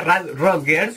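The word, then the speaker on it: Rad Rodgers: o rad Rod Girls Sí así se pronuncia rad rotgers y lo vamos a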